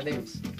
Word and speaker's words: Levi's: O Lewis. ¿Cómo se dice? Ah, Levi's.